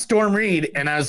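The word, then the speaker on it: Storm Reid: what her name is and there it is Storm read I know it's storm Reed and I was like but I just want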